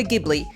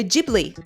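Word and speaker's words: Ghibli: example many people say that this is Studio gibli Japan's famous animated movie company but after your 2 days of study you'll know that it's actually Studio jibli the same goes for Nikon which is pronounced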